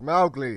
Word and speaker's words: Mowgli: It's pronounced Mowgli. It's supposed to rhyme with cow.